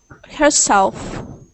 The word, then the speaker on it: herself: Herself. Herself. So, Good, good. Sometimes you forget to make that F sound at the end whenever Uh-huh. you say herself.